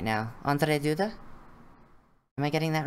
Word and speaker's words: Andrzej Duda: Andrzej Duda? Am I getting that right? Close enough? Andrzej Duda, technically. Yeah. But close enough. Andrei would be the Russian version of the name, and Duda is Duda.